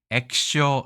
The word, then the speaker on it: 液晶: 액쇼 이렇게 액기쇼지만 보통 발음을 액쇼라고 발음합니다.